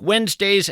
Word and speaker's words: Wednesday: If you're in fact scribbling this down, Wednesday is kind of tough to spell. It's not like it sounds. You want to spell it we enz, but that of course would be a mistake.